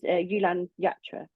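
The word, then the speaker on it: Jhulan Yatra: But say it was Yulan Yatra, that's how it's said, isn't it?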